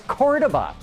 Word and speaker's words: Cordoba: the chrysler ads because the proper spanish pronunciation of cordoba is cordova and matabon kept stumbling